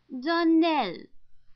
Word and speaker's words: Darnell: would set it right darnell accent on the last syllable and saint claire our